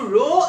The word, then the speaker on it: rho: So you can write R is equal to, some constant is called rho, this is called rho, pronunciation is rho, L by A.